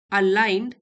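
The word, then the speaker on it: align: धर्म इज not just responsibility it इज the right action अलाइन ji silent है।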